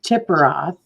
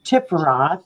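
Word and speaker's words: Tiphareth: represented as death and that would be tipperath or tiffaroth however you pronounce it which is six to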